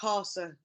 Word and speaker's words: Kausar: It's pronounced Kausar, like the car.